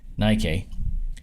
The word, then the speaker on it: Nikkei: This was on the Nikkei, or Nikkei, or Nikki, or however you pronounce this. I believe it's pronounced Nikkei.